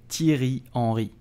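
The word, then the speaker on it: Henry: you say his name correctly you will say Ori Theory only so the H at the beginning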